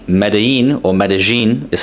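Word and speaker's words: Medellín: However, in places like Medellin or Medellin is how you pronounce it, it's not going to be the case when it comes to the actual nines and tens.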